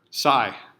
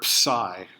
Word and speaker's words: psi: The Greek letter psi. I'm not sure if you pronounce the P or not. I guess you don't, because you don't say psychology. You could. Maybe that's what's wrong with me.